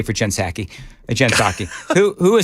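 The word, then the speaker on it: Psaki: I mean, Jen Pasaki. Who? Jen Jen It's circle back. No, I know who it is, but you The P is silent.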